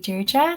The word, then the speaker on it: Deirdre: So Deirdre, thank you for demonstrating.